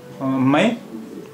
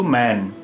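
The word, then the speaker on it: میں: তো এই বাক্যে আসছে মায় মায় শব্দেও নুন গুন্না আছে এর উচ্চারণ মায় যদি এখানে নুন হতো এর উচ্চারণ হতো ম্যান ম্যান কিন্তু এটা ম্যান না এটা নুন গুন্না তাহলে এর উচ্চারণ হবে মায় যদি এটা নুন হতো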